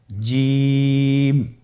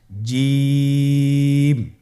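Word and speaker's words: جيم: আপনারা আমার সাথে বলুন জিম হা খ জিম হরফটি বারিক হরফ এটা উচ্চারণ করতে হবে তিন আলিফ টেনে দেখুন আমি কিভাবে উচ্চারণ করছি আপনারা আমার সাথে করুন জিম মাশআাল্লাহ আবার বলুন জি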